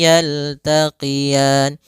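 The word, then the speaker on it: يَلْتَقِيَانِ: Yaltaqian sama sebagaimana kita membaca tukadziban itu ada bacaan madrid di sukun. Boleh dipanjangkan dua harakat, boleh empat harakat dan boleh pula enam harakat. Yaltaqian.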